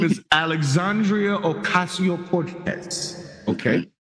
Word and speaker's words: Cortez: Her name is Alexandria Okasio Cortez. Okay. You got to roll the R on Cortez. Why?